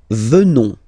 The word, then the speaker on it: venons: Nous venons. Okay? O-N-S, classical ending for nous. Okay? Final S not pronounced. So O-N, on, venons, venons. Nous venons. Nous venons.